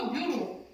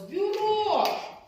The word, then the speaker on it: бюро: пишемо бюро іншомовне слово бюро ви знаєте що звука ю не буває б і показуємо апострофом красивим чітким не рисочкою апострофом бюро кожен звук окремо наголос бюро так скільки тут всього